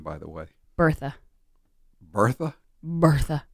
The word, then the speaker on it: Bertha: Bertha. Bertha? Bertha. Or if you want to go with the German pronunciation, Bertha.